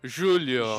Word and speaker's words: Júlio: Everybody I know from Brazil like Julio I mean I just heard a pronunciation Julio. Julio.